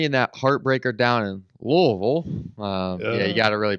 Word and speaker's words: Louisville: Obviously, Louisville beat us last year, 33-20 in that heartbreaker down in Louisville. You got to really pronounce that way.